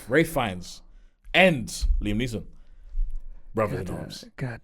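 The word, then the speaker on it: Ralph Fiennes: Is that how you say his name? Uh, Ray Fines. Ra Rafe Fines and Liam Niss.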